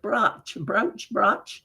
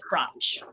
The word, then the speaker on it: Brač: So C's often have a ch pronunciation in Croatian. They do have accent marks to indicate that, but we lose them when we bring it over into English, and that makes it really confusing.